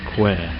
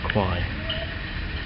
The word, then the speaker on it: Kwai: And in the background there you can see the river Kwai, which is actually, as we learned just yesterday, is actually pronounced Kwai, not Kwai.